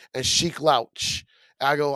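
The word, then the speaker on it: Sheek Louch: Well, first of all, you're saying his name wrong because I'm reading it. I think his name is pronounced Sheik Louch.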